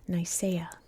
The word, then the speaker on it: Nicaea: It was this city right here, which was known, as we say in English, Nicaea. I know it's pronounced differently in different languages, but I speak English. That's how we say it.